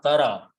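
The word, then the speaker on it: ترى: So it is remaining is tarya, and to pronounce this, we pronounce the sound of fatah, tara.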